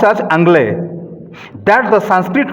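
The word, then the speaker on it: Anglais: As regards the prefix angla, viewers may note that the French still call the English by their ancient Sanskrit name Angl pronounced as Anglay that the Sanskrit name Angla was the original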